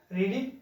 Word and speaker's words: read: Third form ले आए रीडिंग, रीड की थर्ड फॉर्म रेड रही, मतलब लिखने में सेम रही और बोलने में प्रोनाउंसिएशन जो उसका चेंज हो गया।